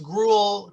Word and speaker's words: Gruel: good good good um and and uh i pronounced gruel correct correct all right so she is a